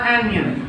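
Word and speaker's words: anion: देखो ये आयंस हैं, आगे वाला कैशन मतलब कैटायन, पीछे वाला एनियन या एनायन, मतलब डिपेंडिंग अपॉन योर प्रोनाउंसिएशन आप कैसे उसको प्रोनाउंसिएट करते हो, ठीक है।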